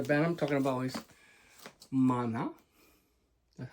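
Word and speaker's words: Maná: And the band I'm talking about is Mana. That's how you pronounce it.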